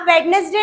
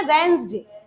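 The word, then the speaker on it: Wednesday: अब वेडनेसडे नहीं बोलना बेटा, प्रोनाउंसिएशन है वेंसडे, है ना, जैसा लिखा है वेंसडे।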